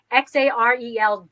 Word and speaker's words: Xarel-lo: We see it Xarel-lo, Xarl-lo, and then just no dot or hyphen.